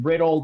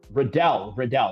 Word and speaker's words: Royval: C says on the comment section, Riddle, not Riddle, rhymes with Liddell. Okay. Riddle. Okay. Riddell.